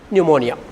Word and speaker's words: pneumonia: He is suffering from pneumonia. He is suffering from pneumonia. PNE, PPP. That P is silent.